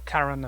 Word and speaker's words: Kalran: Kalran, right? No, Kalran is right.